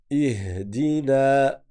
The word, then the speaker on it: اهدنا: Ihdina. Ihdina. Bon là, on prolonge parce qu'on s'arrête. Ihdina. Prononcez bien i et après le ha ihdina.